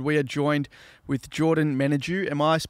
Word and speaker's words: Menadue: yeah everything's good we are joined with Jordan managu am I pronouncing your last name correctly yes yes you